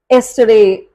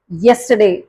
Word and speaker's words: yesterday: ஓ நம்ம தப்பா ப்ரொனவுன்ஸ் பண்ணுவோம் அப்படின்னு சொல்லிட்டு எல்லோ, எஸ்டர்டே அப்படின்னுவாங்க.